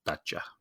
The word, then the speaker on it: Dacia: And I just looked it up and it says the pronunciation is Dacia.